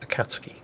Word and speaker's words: Akatsuki: Actually, apparently that's pronounced Akatsuki. You don't really pronounce the U, or so I've heard.